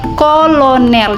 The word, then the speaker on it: Colonel: kaidah bahasa Indonesia misalnya C di muka a u dan o berubah jadi k Contohnya seperti tulisannya Colonel Ini kata pinjaman ya Colonel Tapi bacanya menjadi Kolonel jadi dia c-nya Sudah